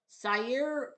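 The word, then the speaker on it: Zaire: Sire or what?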